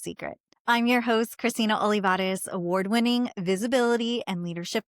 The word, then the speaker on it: Olivarez: I was the only youngest person in the room, the one whose name would get mispronounced right before she walked onto stage. By the way, it's Olivarez, Olivarez, which isn't my original last name.